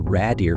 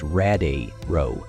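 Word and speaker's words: Radiru: go home and inform her father that the Rader family now rules the demon Castle essel gets emotional and corrects him saying it's pronounced rad row not Rader Jin begins crafting the exler of life he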